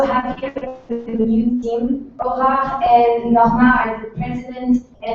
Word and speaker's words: Aurore: My name is Aurore. If you cannot pronounce it, no worry, it's super difficult for non-French speakers to say it. So, Oh! Yeah, Aurora, or Aurora, whatever. Aurora is fine.